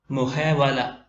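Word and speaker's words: محاولة: ബാഗ് അടുത്ത ഉദാഹരണം മുഹേവലത്തുൻ മുഹേവല മുഹേ വല അവസാനത്തെ തായിനെ ഉച്ചാരണത്തിൽ വരുത്താറില്ല എഴുത്തിൽ മാത്രമാണ് വരിക മുഹാവല ശ്രമം പരിശ്രമം എഫർട്ട്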